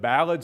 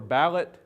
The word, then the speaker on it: ballad: vocal only music the tradition of ballad singing or ballot singing as it was sometimes pronounced in the Ozarks goes goes way back